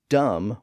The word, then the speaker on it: dumb: time and crime and he rhymed dumb with come so it appears that that final B sound in those words was largely gone during the Elizabethan period